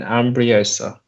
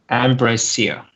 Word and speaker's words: Ambrosia: Aristeos and Ambriosa. Ambrosia.